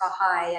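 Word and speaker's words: Bahá'í: people wonder what it is and how to pronounce bahigh and bahala and who was bahala this will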